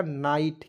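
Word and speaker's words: night: लिखेंगे और इसमें आइट जोड़िए तो हो जाएगा नाइट क्या हो जाएगा दोस्तों नाइट और नाइट मींस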